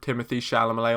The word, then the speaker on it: Timothée Chalamet: Your Name, and have a giant poster of Timothée Chalamet on the wall. And yes, that's the correct pronunciation of his name.